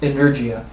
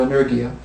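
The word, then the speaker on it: ἐνέργεια: Energy itself comes from, the word energy comes from the Greek word, I believe it's pronounced energia, or energia, which actually means active work.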